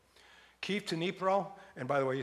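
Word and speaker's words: Dnipro: southern part of Germantown maybe right Keith to nipro and by the way you see this well it says Greg it says dinipro but you pronounce it you you drop the the D it's nipro nipro um and been there a couple of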